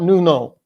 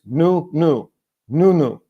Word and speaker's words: Nuno: just wrong it's not Nuno it is not new no it's new new with the emphasis on the first episode from the man